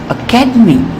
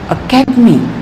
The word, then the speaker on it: academy: For example, in the word academy, academy, the second syllable is said with greater force. Academy, academy. Here, the syllable ca is stressed and all other syllables are actually squeezed. Sometimes people wrongly pronounce it and they say academy. So they lay stress on the words D-E-D. Academy. This is wrong. It should be academy.